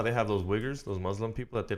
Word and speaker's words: Uyghurs: It's not spelled the way you think. It's it's Uyghurs. But it's literally, that's how you pronounce it.